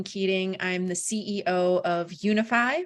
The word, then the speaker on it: Younify: I'm the CEO of Unify, which is spelled funny. It's YOUNIFY.